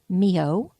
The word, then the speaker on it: myoho: Hyphen, M for Mary, Y, O-H-O, and that's pronounced Mio, dash, Renge, R-E-N-G-E, R-E-N-G-E, dash, K-Y-O, K-Y-O.